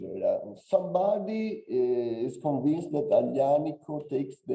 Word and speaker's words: Aglianico: Somebody says in some way the wrong pronunciation due to the Borbonic period in Sicily that transformed Ellenico in Aianico, no, because of the GL that are not used.